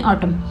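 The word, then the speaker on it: autumn: ड्यू टू the cold ऑटम only a फ्यू यहां पर देखिए एन साइलेंट होता है एम के बाद अगर एन हो तो व साइलेंट रहता है सको पढ़ते ऑटम only few bears branches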